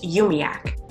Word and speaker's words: UUMUAC: The group also goes by UUMUAC, which they pronounce UMIAC.